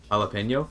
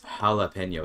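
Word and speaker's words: jalapeño: the J I guess jalapeno but the J is an H there like you're saying a sound it's it's not silence right it's an it's an H it's it's jalapeno it's not jalapeno it's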